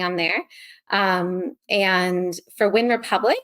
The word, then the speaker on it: Wyn Republic: but mostly running on there um and for win Republic it's spelled win Republic with a Y so w